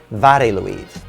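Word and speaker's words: Mari Lwyd: welsh tradition of mary louise or as it's pronounced in wales vareluid she is a skeleton horse or more technically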